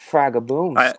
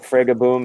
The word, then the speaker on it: Fragaboom: the proper pronunciation when you take my last name, which is, but you it has a modifier. You put boom next to it, it becomes Fraga. So Fragaboom is the official.